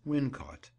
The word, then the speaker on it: Wilmcote: of the Shrew as Wincot. The name is locally pronounced in that way, as it would be when we consider the difficulty in ordinary rustic speech of twisting the tongue around Wilmcote.